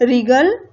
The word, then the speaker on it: wriggle: और ये जो वर्ड है इनमें W सब में क्या है, साइलेंट है, ठीक है। तो WRINKLE रिंकल, ग्रीन, और रिगल WRIGGLE रिगल।